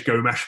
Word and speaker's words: Gomes: And live of it again is Gomes playing. We actually found out that is the right way to pronounce it.